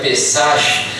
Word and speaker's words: Pesach: Queridos, a palavra Páscoa vem de uma palavra hebraica que se pronuncia Pesach, que significa o que